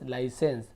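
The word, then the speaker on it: license: इम एंस इमेंस फिर एल आई का लाई पढ़ते हैं ली नहीं पढ़ेंगे लाई एल आई ला सेंस लाइसेंस sauce S यू एस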